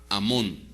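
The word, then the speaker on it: אמון: Y se y se pronuncia en el hebreo Amón.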